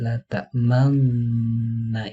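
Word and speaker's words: لا تأمنّا: Nah, di lafaz la ta'manna itu bibir kita harus dimonyongkan cara membacanya.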